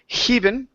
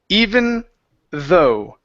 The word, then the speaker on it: even though: even though okay so at the beginning you said heav'n ok remove the h and set up he it's II even though even though okay good